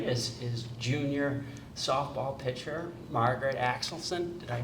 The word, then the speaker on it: Axelson: Over here to my far right is junior softball pitcher Margaret Axelson. Did I pronounce that right?